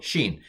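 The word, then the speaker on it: שׁ: a sh sound and with the dot on the left it's a s so sh sh sh s sheen sheen feel like i'm playing um those old atari games anyway never mind so sheen um and it's sha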